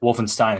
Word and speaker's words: Wolfenstein: I figured as much the proper thing in German is you pronounce the letters as they are written and I comes before